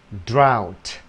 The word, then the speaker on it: drought: Một chữ khác nữa viết cũng như thế, không đọc là á nữa, không đọc là ô, không đọc là u, không gọi là o, mà là ow. Out, drought, the, r, out, drought, drought,